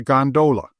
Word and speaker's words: gondola: A flat car, by the way, is known amongst the fraternity as a gondola, with the second syllable emphasized and pronounced long.